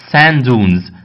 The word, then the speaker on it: sand dunes: خلي بالك بص النطق هنا عندك sand ديت اخرها دي، وعندك كلمة dunes اولها دي، بتعمل حاجة اسمها assimilation اللي هو الادغام. تبقى ازاي؟ sand dunes. sand dunes بتقول دي واحدة بس.